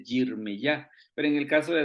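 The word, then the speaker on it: ירמיהו: Por ejemplo, Isaías en hebreo se dice Yeshayah, Jeremías se dice Yirmeyah, pero en el caso de Daniel sí es igualito.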